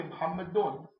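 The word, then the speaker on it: محمد: But you can say Muhammadun. Muhammadun is what's proper. Muhammad. Yani Mah, that means you're stopping on the last syllable, and it's correct.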